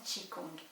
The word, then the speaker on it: Qi Gong: parce que peuvent dire les deux mots tchi kong que l'on écrit d'ailleurs chi gong en français mais que l'on prononce tchi kong et bien les deux